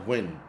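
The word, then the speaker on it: Nguyen: New is pronounced win. It's new. The N is pronounced.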